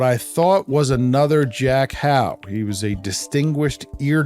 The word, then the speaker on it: Howe: one of this, what I thought was Jack Howe's lectures. And he told me in the email, phonetically, his name was pronounced Huff, Huff, unlike mine, which is pronounced Howe.